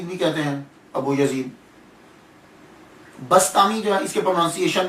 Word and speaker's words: بسطامی: Change ہو جاتے ہیں۔ تو یہ جو بسطام ہے، اصل لفظ جو ہے یہ بسطام ہے، تو کچھ لوگوں نے بستامی کہا، کچھ نے بسطامی کہا، اور کچھ نے شہر کی